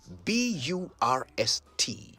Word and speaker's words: burst: bit of pronunciation today the word is burst b-u-r-s-t not bust burst means to suddenly and